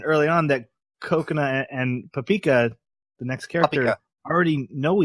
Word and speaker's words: Papika: It's Papika. That's how it's spelled. It's not going to happen. Paprika. Because I see paprika, and I'm trying everything not to say the R, and that's just how it's going to be.